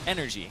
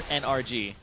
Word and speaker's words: NRG: one wrong either it's energy yes they want you to say energy never NRG and NRG doesn't even stand for energy it stands for NRG Prett but you don't say it that way pronounce that it's the